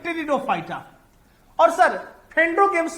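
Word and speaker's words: Pteridophyta: टेरिडो में P silent होता है, टेरिडोफाइटा।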